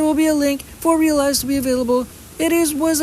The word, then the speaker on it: Realeyes: It's called Realize. Realize. It's spelled REALEYES. That is how you spell Realize, which is the half